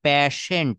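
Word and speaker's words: patient: পি এটি আই এনটি এটা উচ্চারণ হবে প্যাশেন্ট শেষে একটা ট আসবে পেশেন্ট পেশেন্ট মানে হচ্ছে রোগী পেশেন্ট পেশেন্ট মানে মানে হচ্ছে রোগী।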